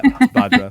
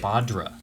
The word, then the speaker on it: Badr: it properly did I that's fine yeah yeah badra but it's okay there's like 75% right badra sorry yeah I even Googled I Googled the